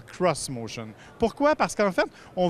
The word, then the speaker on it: xMotion: choses tout de suite ça s'écrit ex motion manie sans insiste pour que l'on appelle le cros motion pourquoi parce qu'en fait